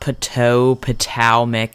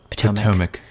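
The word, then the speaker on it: Patowmack: restaurant we went to is not put toe Potomac it's just put Potomac they just spell it differently which made me phonetically want to spell say it differently because that is how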